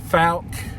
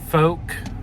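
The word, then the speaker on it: Fouke: to talk about the falc or folk but I'm gonna say falc because it's spelled f-o-u-k-e but I think locals in Arkansas pronounce it as Folk but the falc county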